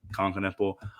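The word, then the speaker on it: Knueppel: Uh, can Kniple, is that how you pronounce his last name? Yeah, Kanipple.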